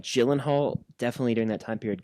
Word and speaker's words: Gyllenhaal: It's like Gyllenhaal. Oh, absolutely. Is it because it's from like some other country? So it's like Gyllenhaal.